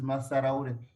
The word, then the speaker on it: Massaraure: you want to help me with the pronunciation again of your last name? Oh, my last name is Massaraure.